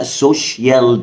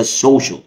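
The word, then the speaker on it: social: ده مايفوتكش يلا بينا اولا سي اي اي ال بتتنطق ل ل مش شيال يعني الكلمه دي اغلبنا في بيقول عليها سوشال ميديا انا مش عاوز بقى السوشيال دي انا عاوزها السوش السوش السوش مي مي دي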